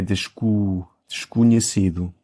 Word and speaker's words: desconhecido: Então eu disse mas é desconhecido. Eu acho que eu tenho a tendência de abrir muito os Os.